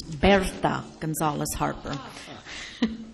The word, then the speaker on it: Berta Gonzalez-Harper: Good evening, and I'll start off by helping everybody pronounce my name. It's Berta Gonzalez-Harper.